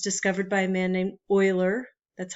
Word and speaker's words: Euler: It's discovered by a man named Euler. That's how you pronounce it. You don't say Euler, you say Euler.